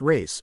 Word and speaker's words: res: The thing, res, pronounced race, or title to the